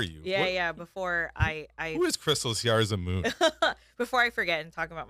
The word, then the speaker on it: Kristelle Siarza Moon: Kristelle Siarza Moon. I mean, just a lovely name. She's lovely. And you pronounced it right.